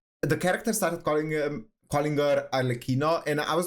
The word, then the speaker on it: Arlecchino: and I was like, is it actually pronounced Arlecchino? And now that I think about it, I think it is because of the H in it, right? If it was just double C, it would be Arlecchino, but because it's CCH,